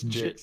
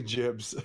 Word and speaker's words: Jibbs: It's Jigs. It's actually Jibbs with two B's.